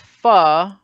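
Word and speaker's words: phở: looks like Fokine great but the soup is pronounced pho so it comes out great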